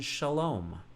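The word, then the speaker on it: שלום: So Sarah or Sarah, or the Vav in Shalom, holding the dot in the air for, oh, look at that bird in the air, for the O sound of the O vowel in Shalom for peace.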